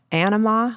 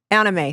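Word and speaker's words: Anyma: And I'll see these snippets, and one, it was at Anima. Is that how you say it, Caesar? Anima? Anime, thank you.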